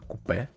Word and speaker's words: coupe: 350Z coupe or as Americans say it, or how it's actually spelled, coupe.